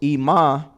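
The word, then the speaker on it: אמא: Aleph is silent. So you can't give it a property. You can't give it a vowel sound. It's just E.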